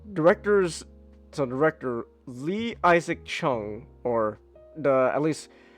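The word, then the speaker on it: Chung: or the at least at least the Korean name you could pronounce it as Jong Isaac or Chong isak I'm going to go with Jong that sounds more that sounds more Korean so Jong ISAC so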